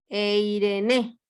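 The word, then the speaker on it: εἰρήνη: E-I-R, R de ratón, E-N-E, Eirene, con acento en la Eirene.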